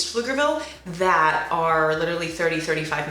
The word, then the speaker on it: Pflugerville: honestly it's really annoying it's pronounced flugerville the pea is quiet it's not buffaloogerville paflavia like it's it's flugerville flukerville i think it's